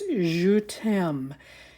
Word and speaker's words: Je T'aime: look that up to make sure I was pronouncing it right but it's JM Paris I love you so this is what